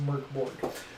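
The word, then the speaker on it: Mörk Borg: in the very beginning mork borg is swedish for dark foreign is pronounced murkboard so you kill the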